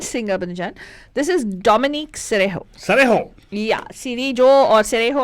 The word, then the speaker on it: Cerejo: This is Dominique Cerejo. Cerejo? Yeah, Cerejo or Cerejo, I don't know how to pronounce her name. Cerejo means Jo nahi re, ho hota hai.